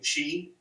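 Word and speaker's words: Sidhe: I'm using Chi, which is S-I-D-H-E is how you spell it, Chi, which is the Celtic, basically race of fairies, right?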